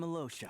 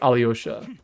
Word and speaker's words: Alyosha: the first time that it's not pronounced like Alyosha and it's supposed to be like Alosha because I did the Archon quest. So could you please pronounce it like that?